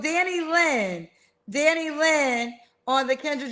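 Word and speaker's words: Danilyn: Danny Lynn.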